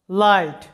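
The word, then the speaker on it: light: আর যদি এরকম হয় লাইট লক্ষ্য করো এল আই জি এইচ টি লাইট একটা সিলেবলের শব্দ লাইট এখানে লক্ষ্য করো একটা সিলেবলের মধ্যে ভাওয়েলের পরে জি এইচ আছে তাই জি এইচ এর উচ্চারণটা সাইলেন্ট থাকবে।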